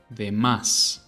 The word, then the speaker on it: demás: Notice how I put the emphasis right where the tilde is. Demás. That is why it's there.